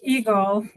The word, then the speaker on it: EGLHE: I never know how to pronounce this acronym in English. I like Eagle.